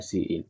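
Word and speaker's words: cin: to use what CE so pronounce it as what uh see in so those scene standard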